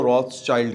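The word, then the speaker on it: Rothschild: वो घर का नाम था रॉथस्चाइल्ड। ये जर्मनी में इसकी जो प्रोनाउंसिएशन है वो कुछ और है। ज़ाहिर है मुझे जर्मन नहीं आती, लेकिन ये इंग्लिश में इसको रॉथस्चाइल्ड कहते हैं।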